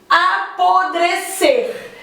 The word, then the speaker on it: apodrecer: Por exemplo, apodrecer. A sílaba tônica é o ser. Apodrecer é a sílaba que eu falo com mais intensidade. Então, também é considerada oxítona.